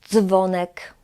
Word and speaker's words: dzwonek: Dzwonek, bardzo, dz, dz. We have also D and Z with a dot, and we pronounce it as dż, dż.